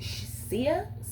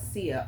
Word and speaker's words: Tsia: I think this name is pronounced Sia. It's spelled Tsia. I'm gonna say Sia.